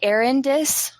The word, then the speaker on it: Arendis: I say Arendis, but however you want to pronounce it is fine.